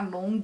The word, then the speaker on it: Longhi: Então, meu Facebook é Long, lembrando que o Long se escreve L-O-N-G-H-I.